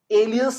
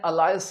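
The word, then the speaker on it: alias: एलियस कहना है, अलायस नहीं।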